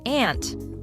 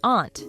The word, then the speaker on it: aunt: and one viewer thought that skelton's pronunciation of ant as ant wasn't really appropriate ant is the usual American pronunciation of the word but Bri was raised by English parents they'd likely use the pronunciation aunt which is what she should have said and yeah you could